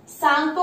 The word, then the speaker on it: Tsangpo: और यहाँ पर इसे सांगपो कहा जाता है। TSANGPO, टी से स्टार्ट होता है, टी साइलेंट है यहाँ पर, जैसे सुनामी में टी से स्टार्ट होता है, टी साइलेंट, ऐसे ही सांगपो है।